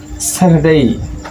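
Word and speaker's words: Saturday: আচ্ছা দেখেন কিভাবে যেমন স্যাটারডেই আমরা শিখেছি আগত ক্লাসে স্যাটারডেই। স্যাটারডেই দেখুন এই যে আর কিন্তু উচ্চারণ হচ্ছে না।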